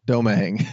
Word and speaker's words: Domingue: Domingue. Domingue, right. I'm sorry. Everybody gets it wrong. It's like dough and mang. You just kind of combine those. It's French, but I know you told me